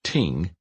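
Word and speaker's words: 听: The word, pronounced ting, is made up of smaller symbols with specific meanings.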